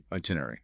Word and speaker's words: itinerary: Notice the stress is on the tin part. I t i n itinerary.